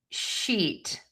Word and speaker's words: sheet: So I always say think about loving a sheet of paper so much that it makes you smile because when you smile your mouth will be nice and tense. The tip of your tongue will be really high and flat in the mouth.